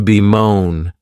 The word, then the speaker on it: bemoan: The next verb is to be moan. And this verb has two syllables and the stress is on that second syllable.